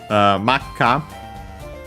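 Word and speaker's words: 真っ赤: Makka becomes accented on the last mora, so technically it could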